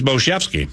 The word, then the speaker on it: Bojemski: It's also okay that you mispronounce that name. You'd still be eligible for the prize pack. He's Bojemski. That's the only thing to call him.